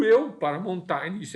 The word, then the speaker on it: Montaigne: Montaigne, a gente vai citar algumas coisas aqui a respeito dele, Montaigne, na pronúncia mais em francês, que é um filósofo que nasceu em 1533 e morreu em 1592.